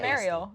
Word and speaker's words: Mariel: I'm just like, "Oh, like Ariel, the Little Mermaid with an M," and then I think of you. And That's perfect. She's Mariel. Mariel.